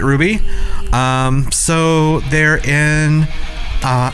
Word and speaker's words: RWBY: Blake and yang so Ruby technically is an acronym RWBY but they pronounce it Ruby um so they're in